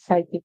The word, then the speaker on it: psychic: spelling and so in the word psychic you have to remember the Y there makes the I sound the CH makes a k sound you have to remember c not K and at the beginning you got to remember that it's a p at the beginning so